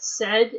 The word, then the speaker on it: said: Said, S-A-I-D is pronounced said.